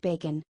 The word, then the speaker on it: Backin: hey it's bacon man it's actually missed her backin pronounced bacon just a fun costume